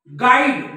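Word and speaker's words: guide: नंतर कोणता आहे आय गाईड गुईट नाही गुईट नाही गाईड बघा या यु नंतर इथं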